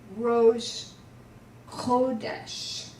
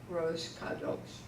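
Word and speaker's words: Rosh Chodesh: help people to remember it's Rose kodash not Rose cuddles it's gross okay okay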